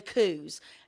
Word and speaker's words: coo: The border collies and sheep herding, they'll want to see, now this is the coos, i.e. the Scottish cows. They're pronounced coo, K-O-O.